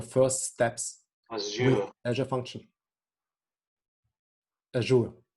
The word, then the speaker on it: Azure: Azure, yeah. So I think there are quite some common ways how to pronounce it, but let's stick to Azure.